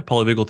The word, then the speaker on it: polyvagal: Am I pronouncing that correctly? Yeah, polyvagal theory.